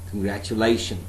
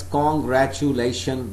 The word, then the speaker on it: congratulation: The way I am saying congratulation. Lay is a syllable where I have to give more emphasis.